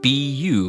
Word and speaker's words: 不: Let's practice saying this character together, which is pronounced bu in the fourth tone, or bu. Release your anger, and your journey towards the fourth tone will be complete.